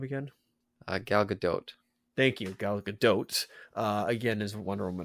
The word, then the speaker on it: Gal Gadot: how do you say her name again uh Gal Gadot thank you Galaga dotes uh again is Wonder